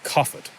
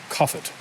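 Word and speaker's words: Cathbad: could be comfort or coffered B is pronounced like a V because it's in the middle of a word and that th sound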